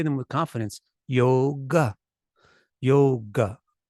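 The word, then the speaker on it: योग: the short sound so the way that this sounds is yoga Yoga Yoga yoga it's not yoga if you say yoga then you look like a foreigner then you look like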